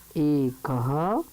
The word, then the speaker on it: एका: एक को बोलेंगे एका। इसमें विसर्ग का उच्चारण नहीं होना चाहिए। जैसे पुल्लिंग में करते हैं एकः, उसी प्रकार स्त्रीलिंग में कहेंगे एका।